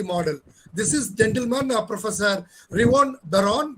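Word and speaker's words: Reuven Bar-On: this is gentleman professor revon baron the pronunciation is reborn baron he made this he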